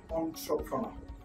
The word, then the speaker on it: entrepreneur: Look, on, tro, pro, no. He is a successful entrepreneur.